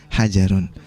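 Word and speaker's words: حَجَرٌ: miliar juga dengan lafadz hajarun tetapi mungkin ya perlu ditekankan pelafalannya ya perlu ditekankan pelafalannya karena ini huruf depannya adalah hak bukan Hm hajarun Wah ini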